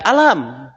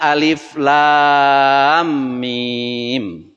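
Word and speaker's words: الم: Tetapi ternyata dalam surat Al-Baqarah ini dibacanya tidak alam. Ya, tidak alam. Tetapi dibacanya alif lam mim.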